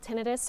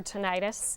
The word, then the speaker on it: tinnitus: do you call it it's called tenus or tentis both pronunciations are correct but it's ringing buzzing